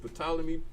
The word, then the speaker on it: Ptolemy: Ptolemy spelled with a P. PT. Don't ask me where they get that from, but it's PT. That's how it begins.